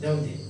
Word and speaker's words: Daudet: is not pronounced, Daudet.